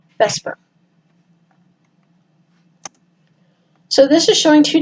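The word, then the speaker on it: VSEPR: electron caramel propulsions and it's produced it pronounced Vesper so this is showing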